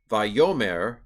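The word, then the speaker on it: וַיֹּאמֶר: Vayomer Alehem. So for whatever reason, on this particular, there is a reason, but this particular form, it's going to pronounce the second syllable. There are 3 syllables, Vayomer.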